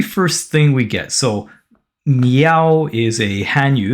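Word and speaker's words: 妙: foundational character meaning meow so meow m i a o with the fourth tone pronounced me meow okay so number one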